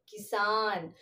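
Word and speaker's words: किसान: For first one, since it is a symbol of E, I'm not giving any stress to the consonant Ka. And Sa is having the symbol of A. So fully giving stress to the consonant Sa. So how we pronounce it as Kisan.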